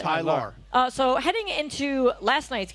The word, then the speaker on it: Tylar: I say that because his name is spelled Ty-Laur, so I can pronounce it. Tyler.